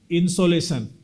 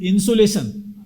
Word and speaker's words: insolation: So it is insolation, not insulation.